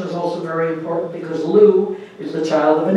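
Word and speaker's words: Lugh: also very important because lou is the child of an intermarriage lou who you spell l-u-g-h okay not l-e-w um is the child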